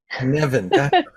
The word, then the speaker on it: Cynefin: Oh, okay, now, if I'm saying this word wrong, Kinefin and other complex thinking models. Did I say that right? Cynefin? Kinefin. Yeah. It's Welsh. It's like a weirdo word.